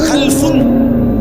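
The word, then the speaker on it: خَلَف: একটা হলো খালফুন আর একটা হলো খালাফুন। একই শব্দ, শুধু উচ্চারণের মধ্যে একটু ভিন্নতা। মাঝখানে একটা লাম আছে, এই লামটার মধ্যে যদি সাকিন হয় তাহলে হলো খালফুন, আর যদি লামের মধ্যে জবর হয় তাহলে হলো খালাফুন।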